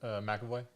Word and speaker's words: McAvoy: McAvoy? McAvoy.